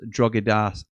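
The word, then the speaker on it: Drogheda: Jim is pronounced Drogoda. Say it fast."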